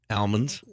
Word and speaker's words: almond: on what crappy what almonds an almond yeah it's not an almond yes it is it's an almond the oh it's an almond it the l is silent all right you were